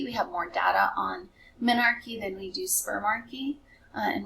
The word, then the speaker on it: menarche: that first menstrual cycle, menarche. Some people just say spermarch and menarche, and they don't pronounce the E at the end.